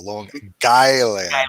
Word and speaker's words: Long Island: way pete pronounced it long island long island it's like a long and then island i like that that's actually if you if you pronounce it properly it's like guy land a long island so yes anyway i